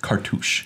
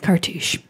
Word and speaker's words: Cartouche: An enchantment subtype, Cartouche. Cartouche. Ooh. That's how you say it. PSA, Cartouche. Yeah, Cartouche. It's not car touch.